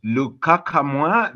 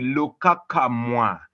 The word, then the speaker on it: Lukakamwa: I'm Lukakamwa, the name which has teased Marty, it has teased Chris for quite a long time, but well, that's how you pronounce it. It's called the Lukakamwa.